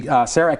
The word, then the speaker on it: CEREC: Okay, and the first one is a CEREC machine.